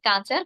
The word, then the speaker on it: কাঁচা: খেয়াল রাখতে হবে একটি হলো ডাব আরেকটি হল গাব আর কাঁচার ক এর উপর চন্দ্রবিন্দু আছে কাঁচা ডাব পাকা গাব